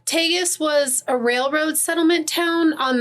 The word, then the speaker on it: Tagus: first one is the gateway to Hell in tus North Dakota and I always want to say Targus and there's no r in